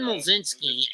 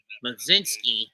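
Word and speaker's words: Mlodzinski: Carmen Mlzinski is Numbers, silent L and a silent D. Mlzinski. Silent C too. Just pretend there's a J in there somewhere.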